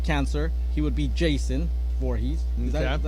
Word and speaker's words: Voorhees: He would be Jason Voorhees.